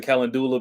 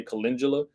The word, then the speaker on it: calendula: And a lot of people pronounce it calendula because that's how it's spelled, but you really say calendula.